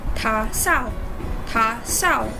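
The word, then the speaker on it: 打扫: While we are at it, another reminder when pronouncing is the letter D. Pronounce it as if the word is letter T. For instance, 打扫, that define cleaning.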